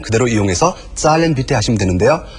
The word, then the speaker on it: zahlen: 그래서 그 동사 zahlen 그대로 이용해서 zahlen bitte 하시면 되는데요. 그 표현은 ich möchte zahlen bitte, ich möchte 이 부분이 생략된 겁니다. 그래서 zahlen bitte 계산하고 싶습니다. Z의 발음에 유의하시면서 발음 연습해 보십시오. Zahlen bitte.